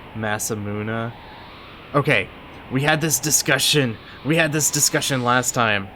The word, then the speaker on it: Masamune: Point of fact is pronounced Masamuna.